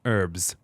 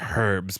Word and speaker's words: herbs: the Queen's own garden herbs not herbs put that H away herbs from the Queen's own garden is that her note no that's my not that's your note yes okay herbs is still spelled with an H right I know but don't say it with your mouth herbs yeah hey remember